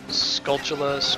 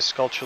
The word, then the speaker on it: Skulltula: played ocarina of time I always pronounced sculpt Chile's Skulltula and then randomly I overheard someone say sculpture WOD realized like the folly of my ways a second tarantula sculpture